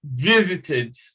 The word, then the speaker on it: visited: we have in visited eddie is pronounced eid visited now you you may not sound extreme in making it easy but let it be slightly tilted towards eid so we talk of